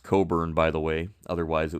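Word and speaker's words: Cockburn: Coburn uh town and Coburn Harbor here that's pronounced Coburn by the way otherwise it would be painful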